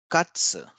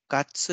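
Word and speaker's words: かつ: Katsu. Katsu is a deep fried cutlet of meat. And notice the pronunciation of katsu. It's not katsu, it's katsu.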